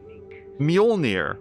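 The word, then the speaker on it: Mjölnir: frog yonir frog wait Muer right so the J is silent so froger uh I self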